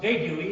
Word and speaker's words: vague: So it's not vague-y, it's vague. It's not tongue-y, it's tongue."